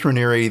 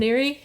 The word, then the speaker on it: Raniere: He pronounces his last name Raniere? I've heard it as Raniere. Okay. In prep for this, I listened to a lot of podcasts, and that's how they were pronouncing the name.